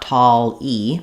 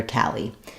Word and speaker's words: tally: tall we have tally it's not tall e but rather tally um so thinking about